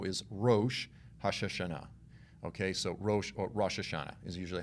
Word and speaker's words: Rosh Hashanah: you will know is rosh hasha okay so rosh hashanah is usually how it's said now this is